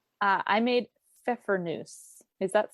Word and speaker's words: Pfeffernüsse: So I made, for my cookies that I chose, and again, this could be an interesting pronunciation. I made Pfeffernüsse.